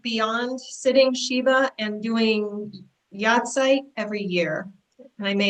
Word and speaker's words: Yahrzeit: What are some Jewish ways of dealing with grief beyond sitting Shiva and doing Yahrzeit every year? And I may have mispronounced that. Oh, you didn't mispronounce it. That's good. Yahrzeit.